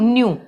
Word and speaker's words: nu: तो इसको हम बोलते हैं न्यू, NU, न्यू।